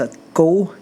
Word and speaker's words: cu: short for no cucumber but see you is pronounced a go in Vietnamese and it's a slang for